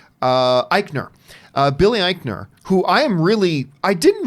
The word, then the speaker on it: Eichner: who I love, and Billy, how do you pronounce his name? Eichner.